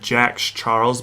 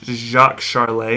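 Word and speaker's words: Jacques Charles: named jacques charley and if i didn't look at the pronunciation for this man's name i probably would have said jax charles but it jacques charlay and and this french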